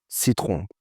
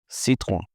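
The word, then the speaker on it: Citroën: But that's not how the French pronounce it. So they say Citroen, Citroen. Like that, the R's like they have that like hop sound to it. Like I don't even know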